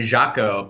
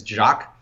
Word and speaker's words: Jacques: Like, to be a 9-year-old kid in New York City shoveling snow with my buddy named Jaco. I couldn't pronounce his actual name, is Jacques.